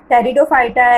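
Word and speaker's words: Pteridophyta: टेरिडोफाइटा एज the name indicate the Tayron means here the पी is silent.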